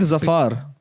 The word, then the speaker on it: Zafar: Zafar, is it? Yeah, like Ali Zafar.